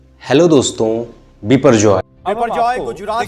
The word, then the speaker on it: Biparjoy: इसको गुजरात के सौराष्ट्र और कच्छ के इलाके में बिपरजॉय के नाम से प्रोनाउंस किया जा रहा है।